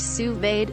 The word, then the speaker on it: sous vide: a modern-day cooking equipment sous-vide pronounced sous-vade is a cooking technique